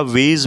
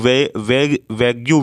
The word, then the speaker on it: vague: या वेज भी हम इसे कहते हैं, या लोग वैग्यू भी लोग कहते हैं, नहीं इसको वेज हम बोलेंगे। तो VAGUE है ना, यू साइलेंट रहता है, वेज।